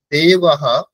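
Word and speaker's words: দেবাঃ: বিসর্গের উচ্চারণের নিয়ম হচ্ছে যেই স্বরবর্ণের পরে বিসর্গ হবে, মঞ্জু মিউট করুন, যেই স্বরবর্ণের পরে বিসর্গ হবে বিসর্গের উচ্চারণ সেই স্বরবর্ণের মতোই হবে। যেরকম দেবাহা, এখানে অকারের পরে হয়েছে, তাই না?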